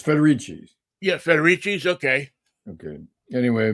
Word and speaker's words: Federici: sorry to report that feder Rico by the way it's spelled the same way as Danny Federico of the Easter band well he's federici federici yes it's federici yeah federici okay okay